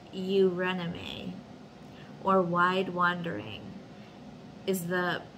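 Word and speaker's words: Eurynome: in the ecstasy the intensity of ecstasy it's pronounced you rename or wide wandering is the palesian or pre-hellenic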